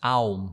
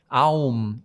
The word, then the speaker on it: Aum: 3 syllables in a single syllable. They come together to make Om.